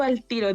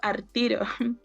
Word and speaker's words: al tiro: Por ejemplo, yo no digo al tiro, digo artiro, pero es porque es algo que se usa mucho en mi casa y me cuesta Dejar de corregirlo.